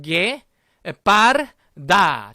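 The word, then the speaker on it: guepardo: 괴 아니라 뭐라고 읽을까요? 그렇습니다. 게. 다 같이 읽어볼게요. 게 빠르다.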